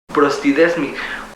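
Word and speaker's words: προστίθημι: La palabra aumentanos, leída en el contexto griego original, se pronuncia prostidesmi, como colocar adicional, es decir, poner a un lado de, es un anexo, añadir, agregar, aumentar, proseguir.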